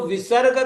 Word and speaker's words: विसर्ग: विसर्जन मिति विसर्ग तो विसर्ग का जो उच्चारण होता है अंग्रेजी में जिसे कहते साइलेंट साइलेंट ह की तरह होता है लेकिन यह ह जब